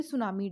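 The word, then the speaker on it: tsunami: जिसका नाम है वर्ल्ड सुनामी डे या बेटी जो है वह साइलेंट रहता है इसको सुनामी के नाम से जानते हैं वर्ल्ड सुनामी के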